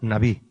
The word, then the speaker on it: Nabí: La palabra profeta aquí en el hebreo es la palabra Nabí, así, N-A-B, B grande decimos, y una I, con acento en la I, que significa Nabí, que significa hombre inspirado.